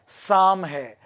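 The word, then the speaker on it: Psalms: और इनको जो है 1983 में द लेटर ऑफ साम, द लेटर ऑफ साम, इसका प्रोनाउंसिएशन साम है।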